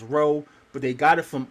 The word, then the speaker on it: rho: Rho they pronounce it as row but they got it from us.